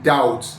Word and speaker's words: doubt: Like the way B is silent in doubt, B is silent in death, B is silent in other words, like B is silent in climb, silent in plumber.